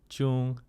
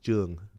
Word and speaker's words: Jung: the easiest right but the correct pronunciation of my last name is Jung Jung Jung okay anyways I was